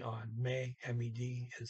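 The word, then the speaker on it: med: The D on may, M-E-D, is silent.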